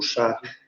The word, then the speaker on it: Charles: O Charles, sem o S na pronúncia, como o francês diz.